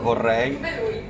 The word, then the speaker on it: vorrei: Vorrei. Pure? Vorrei. I would like is vorrei. Ah, vorrei. Vorrei. V. V. V. Si pronuncia tedesco.